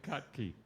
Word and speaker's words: Kotke: I didn't say his name right. Kotke. Kotke.